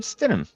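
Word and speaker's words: Stidham: I don't even know how to pronounce their their backup quarterback's name. Oh, it's it's it's Jared Stenham.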